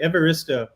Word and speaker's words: Evaristo: yeah so it was very very close actually evaristo all right it was usually how i introduced him it's it pronounces the way it's it it is yeah